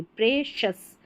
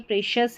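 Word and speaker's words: precious: फिर यहां पर देखिए पी आर ई को प्रे या प्र पढ़ते हैं तो यहां पर हम इस स्पेलिंग में प्रे पढ़ेंगे प्रेशस प्रेशस का मतलब प्रेशियस है हमारे लिए कोई चीज तो अनमोल है कीमती है प्रिशियस प्रिशियस भी बोल देते हैं कई जनर प्रेशस प्रेशियस फिर अगली स्पेलिंग में बढ़ेंगे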